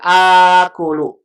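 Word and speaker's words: آكُلُ: Kalau bersambung dengan domir ana, asalnya kan ana akulu. A-nya double. Ini dalam bahasa Arab susah kalau diucapkan akulu. Makanya bentuk ini kalau bertemu hamzah yang pertama fathah, hamzah keduanya sukun dipanjangkan jadi akulu.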